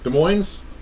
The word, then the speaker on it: Des Moines: Des Moines? It's not with an S.